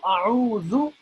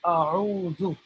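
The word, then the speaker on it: أعوذ: So a'udhu sounds like the letter Z, but there is a distinct difference when we're pronouncing zal and za. So I don't want to get more technical here.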